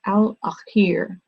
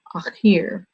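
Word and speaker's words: الآخر: the Arabic language is al-akhir. It's spelled A-K-H-I-R in the English transliteration, akhir.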